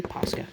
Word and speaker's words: Posca: Am I pronouncing that correctly? Posca, yeah.